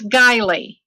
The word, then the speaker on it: Guiley: I haven't got it wrong uh can you pronounce it for us please it's giley Rosemary Ellen giley right okay uh welcome to